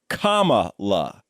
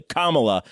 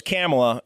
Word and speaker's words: Kamala: guys so finally most importantly her name is pronounced comma la c-o-m-a dash love phonetically kamala uh people are having a lot of trouble